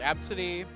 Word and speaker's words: Abcde: Like that one girl that was named ABCDE and like it was pronounced Absidy.